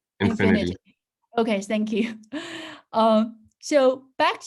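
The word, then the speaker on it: Infiniti: And back then, it was Buick and, should I pronounce this as Infinity or Infinite or some Infinity. other pronounce? Infinity.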